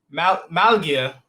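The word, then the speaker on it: Málaga: Malaga, I think I said it wrong. Located in Malaga, Spain. Ladies and gentlemen, Mike Graham. Hey, great to be here, Lamar. Yeah, you got it. Malaga, Spain.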